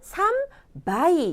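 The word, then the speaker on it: 三杯: 되고요 석자는 어떻게 하죠 석자는 삼바이 이번에는 탁음이 붙었어요 발음 주의하셔야 됩니다 넉자 용 하이 시하이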